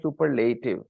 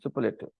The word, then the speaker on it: superlative: the superlative adjective and notice I'm not saying super native I'm saying superlative I'm saying superlative okay so guys it is not super native it's superlative okay superlative actually superlative okay the stress is on the second part superlative okay so you